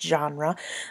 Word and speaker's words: genre: That word is pronounced genre.